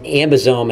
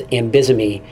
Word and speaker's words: AmBisome: lastly know your pronunciations pronouncing ambisome as ambisomy is a recipe for disaster don't overload your slides